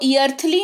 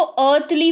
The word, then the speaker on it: earthly: EARTHLY, इसको ईर्थली नहीं, इसको अर्थली पढ़ते हैं। क्या पढ़ते हैं? अर्थली पढ़ते हैं। इन तीनों ही स्पेलिंग्स में आपको दिख रहा होगा ई के तुरंत बाद AR है, इसी वजह से ई क्या है? ई जो है वो साइलेंट है, राइट?